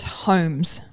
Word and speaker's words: Holmes: We hope it's Homes. Homes. Take the L out. The L is silent. Not Homes. No, as we sometimes hear. It's homes.